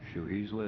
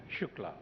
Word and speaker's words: Shukla: next speaker is shua is that correct I probably butchered your name come on up and correct me please uh the name is Shukla sh UK La okay